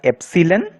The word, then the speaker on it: epsilon: This is not an E, it is pronounced as epsilon.